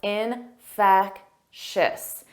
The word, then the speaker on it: infectious: Notice that 3 sounds, infectious, infectious. And the syllable stress is on the second syllable.